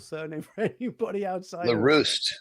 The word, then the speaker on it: LaRue: LaRue. Okay. LaRue, like LaRue is on fire. Oh, there we go. LaRue. Yes. LaRue is on fire. That's how you can remember it.